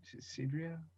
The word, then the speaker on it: Desideria: Man, I wish I could pronounce her name. It's Desideria.